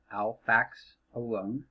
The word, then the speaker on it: alfaxalone: to be on the drug alphaxalone pronounced alfax alone all right so alphaxalin